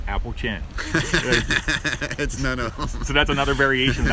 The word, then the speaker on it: Appalachian: legendary mason-dixon line yes let's talk about the pronunciation of the term Appalachian Trail or Appalachian Trail it's Apple chin it's Apple chin so that's another variation